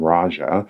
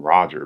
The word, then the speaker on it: Raja: he gives away named Raja and the guy calls him Roger because it's hard to pronounce and eventually he's like